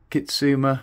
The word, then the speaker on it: Kitsuma: which is the what's that, the Cane Creek Kitsuma, that's how you pronounce it, Debonair Kitsuma.